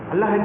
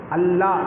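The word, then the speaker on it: الله: அல்லாஹ், கடைசியில் ஹா வரணும்.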